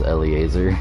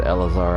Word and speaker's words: Eleazar: saw the the Eleazar my first thought with the pronunciation was Eliezer I was like and then I heard Eleazar I'm like oh compared